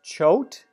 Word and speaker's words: Choate: name is Heather Heather is your last name pronounced choked good job can't let go and